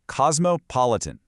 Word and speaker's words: cosmopolitan: Cosmopolitan, pronounced cosmopolitan. Now that middle section trips up so many people.